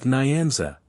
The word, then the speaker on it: Nyanza: The N and Y are joined in the mouth, and never pronounced separately. That Nyanza, it would be nearer the mark to say the Nancy.